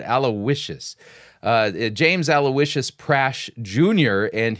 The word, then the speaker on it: Aloysius: Somebody was telling me that the right way of pronouncing that word, Aloysius.